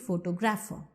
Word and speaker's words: photographer: Then come to the derivative photographer. When you say photographer, you are stressing on gra.